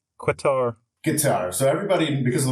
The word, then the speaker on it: Qatar: troops uh I complete everybody knows how to pronounce uh Qatar now cutter cutter now because I think guitar but with a Q quatar guitar so everybody because